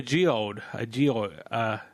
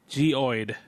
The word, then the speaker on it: geode: Geoid. Am I saying it right? You're a geologist. I know, and I have a lisp right now. A geoid. No, I'm totally not pronouncing it right. I'm sorry. A geode. There you go, geode.